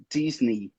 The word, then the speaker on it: Disney: Mas, na verdade, em inglês a gente diz Disney. Disney. Como se fosse Disney. 2 Is no final, né? Exatamente. Vou te dar uma dica aqui, ó. Como que você pronuncia essa aqui, ó? Key. Key. Tá vendo? O final é o mesmo e essa aqui, ó. E essa aqui, que significa rim. Kidney. Kidney. Tá vendo? Então, Disney. Disney.